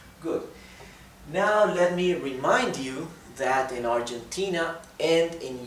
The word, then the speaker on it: yo: group vosotros okay good now let me remind you that in Argentina and in Uruguay those two